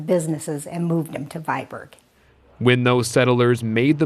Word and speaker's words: Viborg: But back in Denmark, it's pronounced Viborg.